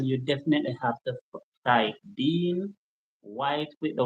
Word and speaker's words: Dean Whyte: I spell white because most people try to spell it whi and they will not find me. But my name is Dean White, blind visioner, which is V I S I O N A I R E.